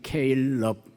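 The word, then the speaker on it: Caleb: 이 시간 이제 이 일편단심 케일럽 영어식으로 제가 일부러 발음을 보냈습니다. 갈렙이죠.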